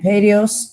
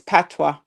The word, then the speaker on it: patois: It's patois. Patois. Oh, that's the word, child. I pronounced it wrong myself. Patois. Used as the punchline. It's not patios. I didn't say patios, though. No, you didn't. But it is patois, y'all.